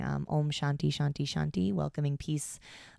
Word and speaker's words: Om: And Om is the universal sound of all of us. It's 3 syllables. It's ah, o, and and I like Aum.